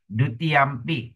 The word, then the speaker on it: dutiyampi: Short I, bit. Dutiyampi, dutiyampi, dutiyampi. Correct?